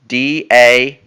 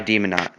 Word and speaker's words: Daemonaut: My name is Demonot. capital D, no spaces, Daemonaut. It's like Juggernaut, but it's demon, and it's spelled the old-fashioned way. Demonaut, no spaces.